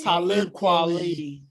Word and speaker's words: Talib Kweli: How you pronounce his name? Talib Kweli.